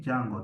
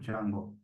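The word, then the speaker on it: Django: write P install jungle the D is silent so you just call it jungle don't say the jungle it's called jungle the D silent then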